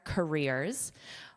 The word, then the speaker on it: career: Career, career, rear. So make sure you get, the sound is rear, like behind you, rear, rear. And it's a long sound because it's the stress sound.